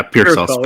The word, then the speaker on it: Pearsall: Yeah, Pearsall. It's spelled like pear, but it's pronounced peer.